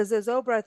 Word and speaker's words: Zozobra: Well, the one event that I would like to attend, and you know how to pronounce it, and I don't. Zozobra, Say it again. Zozobra, Zozobra, Zozobra.